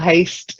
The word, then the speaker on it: haste: You've got to get the s in there because otherwise it sounds too much like hate. So more haste, less speed.